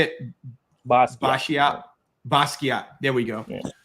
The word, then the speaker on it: Basquiat: Basquiat.